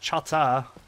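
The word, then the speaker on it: Chahta: uh let's see for the Chaka they're actually pronounced Chata uh which is how you would say it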